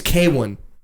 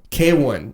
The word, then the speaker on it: KWN: His name's K1. K1? K1. Spelled KWN. K1. KWN. KWN K1. That's how you say it? That, you know what? I can even prove it to you. That it's on a Spotify bio. That's how we... Bro, would you have to phonetically tell people how to say your name? Pronounced K1.